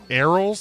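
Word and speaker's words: arils: it's not a puma arrows I believe it's how it's pronounced a r i LS arrows are the small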